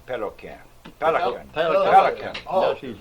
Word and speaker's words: Pelican: Now some of them spells it P-E-L, P-E-L-C-A-N, and some of them spell it P-E-L-Q-U-E. Now Pelican. that would be more in French, huh? Pelquet or something. Yeah, Pelquin? But they pronounce it Pelican.